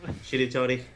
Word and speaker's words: Shiritori: Yes, the Shiritori game, or Shiratori. I don't know how to pronounce Japanese things. Shiritori. Nobody does. Shiritori.